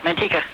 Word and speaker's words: Manteca: Manteca, California on Coast to Coast AM. Am I pronouncing that right, Randall? Perfect. Manteca. Yeah, that's it.